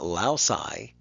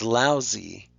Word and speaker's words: lousy: end because that Y has an e sound it's not allow sigh it's lousy we do that so